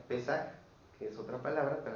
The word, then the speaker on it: Pesaj: La palabra Pascua viene del hebreo que se pronuncia pesaj, que es otra palabra para determinar lo mismo. Pesaj. P E s a j. Pesaj con acento en la e.